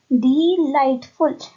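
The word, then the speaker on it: delightful: sound आ रही है तो ये हमें देखना है कि जी और एच है वो साइलेंट लेटर्स है लाइट की स्पेलिंग में डिलाइटफुल अगर आपने एल आई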